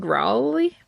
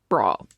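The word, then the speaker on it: Rawle: Eileen Rowley. I think she's, one of those UK people. Let me Google. Those pronounce Eiling.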